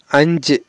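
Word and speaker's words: അഞ്ച്: ওকে, কেউ আমরা বলি আঞ্জি, তো আঞ্জি বা আঞ্জে এরকম বললে কিন্তু আমরা ভুলতে পারি না, টানটা এরকম হয় যে আঞ্জে। ওকে বন্ধুরা, তো এখানে হবে আঞ্জে ও আঞ্জে নাম মানে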